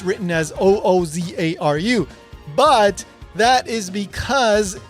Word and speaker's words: Ōzaru: And pay attention, it's not pronounced Uzaru, it's Ozaru.